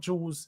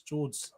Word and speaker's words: George: It's not Jules. It's George.